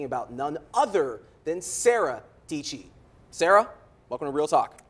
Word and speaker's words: Dietschy: a million followers and her last name rhymes with peachy yes I'm speaking about none other than Sarah Deecee Sarah welcome to real